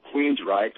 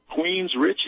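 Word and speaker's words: Queensrÿche: in a band called Queensryche." And I said, "Queensryche," and I go, "Spell that." I know the Queen's part, and then she said R-Y-C-H-E. I said, "That ain't Richie, Mom, that's Reich."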